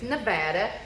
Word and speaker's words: Nevada: saying exactly how you say it so it's Nevada but he is over in Crystal today at